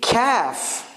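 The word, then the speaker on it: كاف: And then we have the kaf. Kaf is like light qa. Qa is like a little bit from throat. Ka is from like your 2 sides.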